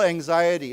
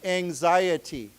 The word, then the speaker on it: anxiety: So you say, "I feel anxiety." Okay. So why don't we say together? Remember this is pronounced as a Z. So why don't we say anxiety?